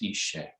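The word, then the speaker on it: Iṣe: Yes, I-S-E, but it's pronounced Ishe.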